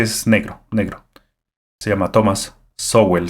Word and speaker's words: Sowell: Se llama Thomas Sowell, se escribe, pero se pronuncia Thomas Sowell.